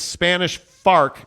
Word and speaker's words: Spanish Fork: go there absolutely uh Jeremy Bolton says it's Spanish farc say it right yes my bad right Spanish bark right yep the Spanish Fork American Fark yeah I do like